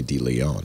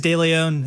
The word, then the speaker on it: de Leon: and that's probably why some people say d leon because and you know it's i'm not gonna if people people could pronounce it it is de leon if they mispronounce it